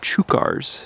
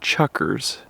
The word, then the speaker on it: chukar: rocks up above some chukars. Now, I've always said chuckers, but I looked up online and it looks like it's pronounced chukar.